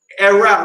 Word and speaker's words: erao: Erao, that's spelled E-R-A-O.